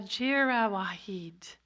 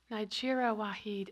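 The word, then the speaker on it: Nayyirah Waheed: by her called salt it's not jeera wahid anybody familiar with her nigera Wahid and she's one of my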